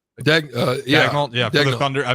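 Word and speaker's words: Daigneault: Is it Dagnalt? Dagnol.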